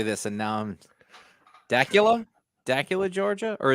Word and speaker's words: Dacula: this and now daula Dacula Georgia or is it not like Dracula right yeah I think it was not like Dracula but I like Dracula better